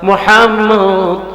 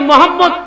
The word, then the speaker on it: মোহাম্মদ: নবীজির নামটাই রাখছে মোহাম্মদ এই মোহাম্মদ কেউ যদি উচ্চারণ করতে যায় সে অটোমেটিকলি এই দুইটা ঠোঁট আইজে যাবে সুবহানাল্লাহ আরো জোরে বলেন বলেন এই যে মোহাম্মদ চুমা খাইতেছে কিনা মোহাম্মদ